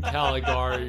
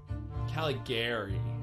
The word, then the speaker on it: Caligari: Caligari, I think, is how it's supposed to be pronounced.